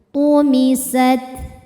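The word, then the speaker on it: طمست: Nujumu tumisat, tu-nya tebal ya, tumisat.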